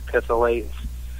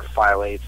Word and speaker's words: phthalates: Things to stay away from, like phythalates or phthalates. It's said both ways.